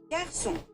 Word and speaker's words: garçon: It's the intonation. So garçon. Garçon. Garçon. Like goes up.